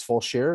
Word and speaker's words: Fulshear: when i come out and again it's it's pronounced dozier's and then it's it's full sheer is that the full shirt okay yeah and